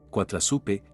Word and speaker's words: coatlaxopeuh: Azteca náhuatl de coatla el cual es pronunciado quatrasupe y suena extremadamente parecido a la palabra en español Guadalupe coa significa serpiente tla